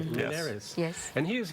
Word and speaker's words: Linhares: Linhares.